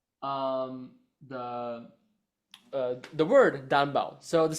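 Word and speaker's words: đàn bầu: um, the the word Danbao. So the spelling of it, the first name Dan, Dan, and the last name Bau, Bao. So BAU, Danbao. like Hambao. Yeah, like Hanbao.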